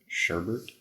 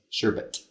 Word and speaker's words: sherbet: I've always print up was heard pronounced sherbert sherbet but no there's no second yeah that's what I